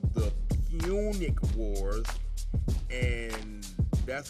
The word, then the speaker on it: Punic: him and Hannibal the Great was called the Punic Wars, and that's how you pronounce that, Mr.